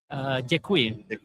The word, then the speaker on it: Děkuji: Děkuji.